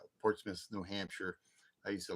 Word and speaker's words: Portsmouth: I don't think you pronounce it Port Smile. It's pronounced Portsmith.